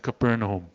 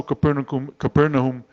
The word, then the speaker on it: Capernaum: All those miracles, and probably more that were not written, all of them happened at Capernaum.